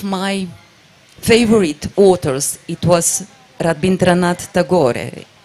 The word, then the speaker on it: Rabindranath Tagore: and one of my favorite authors it was rabindranath tagore a it's the right pronunciation and I still remember some of his